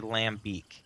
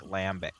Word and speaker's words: lambic: I always want to say lambic, but they're like, it's more like lambic. And this would be more like lambicus.